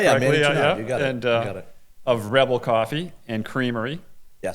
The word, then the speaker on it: Manny Janard: This is the Sharing Wheel, and today we have Manny Janard. Yes. Pronounce it correctly. Yeah, Manny Janard.